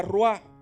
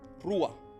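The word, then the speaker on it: רוח: Y en hebreo, cuando buscamos la palabra aliento, se menciona o se pronuncia ruah. Y quiero darle esta definición: ruah o ruach, however you want to say it.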